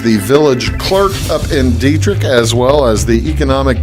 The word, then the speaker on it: Dieterich: My guest today is Brittny Gipson, and she is the village clerk up in Dieterich, as well as the economic development coordinator up in Dieterich.